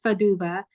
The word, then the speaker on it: Fadugba: And I just want to shout out really quickly a friend of mine named Femi Faduba. His last name is spelled Fadugba, and I think he's been on the Read Your World IG Live.